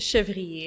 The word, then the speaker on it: Chevrier: a Chevy yeah it's Shiva teehee it's very French gotcha yeah I figured